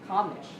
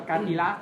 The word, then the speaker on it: cartilage: Chúng ta gần như là xoa toàn bộ cái âm số 2, đúng không? Đấy. Nhấn vào âm đầu, cartilage. Đấy, xin đọc là cartilage nhé.